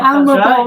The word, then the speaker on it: ANLEBO: ANLEBO? Yeah, ANLEBO, that's right.